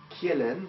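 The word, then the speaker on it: Kjellén: trisè de la liste c'est un suédois qui s'appelle rudolp Kelen ça s'écrit k j e de l e n il est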